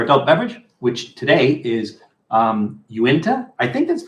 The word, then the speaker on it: Uinta: So Uinta or Uinta, I don't know how it's pronounced. Uinta, I believe.